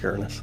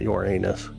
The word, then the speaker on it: Uranus: If you want to know how to pronounce Uranus, by the way, it's Uranus. It's not your anus.